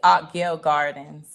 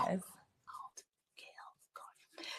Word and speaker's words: Altgeld Gardens: It's Altgale Gardens. Altgale. See it again. Altgale, yes. Altgale Gardens.